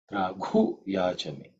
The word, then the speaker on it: Draghuyachame: In terms of pronunciation, the second letter is ghu. This ghu is the fourth letter in the kavarga. So it has to be aspirated. Mahaprana. Okay. Draghuyachame.